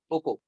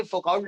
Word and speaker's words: Foucault: अब लिखिए, लिखिए फोको डिस्कवर्ड, फोको FOCAULT, FOUCAULT, फोको। स्पेलिंग से फोकआउट लग रहा है, लेकिन नाम फोको इनका है।